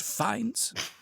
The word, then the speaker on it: Fiennes: It is pronounced Fiennes. It looks like Fiennes, but no.